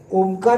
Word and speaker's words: ओम: असेपर्यंत ओके सहावा पैलू ओमकार चिंग ओम हा असा शब्द आहे ज्याच्यामुळे तुम्ही सगळे शारीरिक आणि मानसिक विकार बाजूला काढू शकता ओम या शब्दाचे उच्चारण अ उ म या तीन अक्षरांमध्ये आहे आकार मी जास्त घेतला